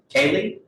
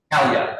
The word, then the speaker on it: Kalye: it's Cooking LLC, DBA Kaylee. It's Actually, it's spelled Kalye. So yeah, just Kalye. Kalia. Okay, Kalia, not Kaylee.